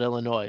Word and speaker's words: Illinois: And I can't think of anything else really to say about it about Illinois other than you don't pronounce the S at the end if you know.